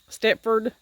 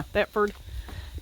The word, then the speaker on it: Thetford: This is a Stepford. This right here. This is a, yeah. Can you see that? It's a Thetford. How do you say that? Thetford? Yeah, Thetford porta potty.